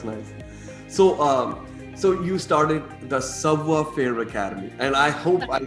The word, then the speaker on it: Savoir-Faire: So you started the Savoir-Faire Academy, and I hope I said that the right way. It is Savoir-Faire Academy.